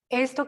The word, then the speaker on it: est: Mon prénom es, mi nombre es, pero en este caso nombre solamente el primer nombre, ¿cierto? Entonces, mon nom est, recordemos que acá no pronunciamos la S.